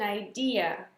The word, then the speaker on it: idea: Deuxième colonne, faites bien la différence entre les deux parce que souvent le deuxième mot il est prononcé comme le premier. Donc, I've got an ID. No, an ID is your identity card. I've got an idea.